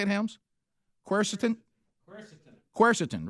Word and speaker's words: quercetin: know about this how you say it helms quercetin quercetin right yeah i got that right yeah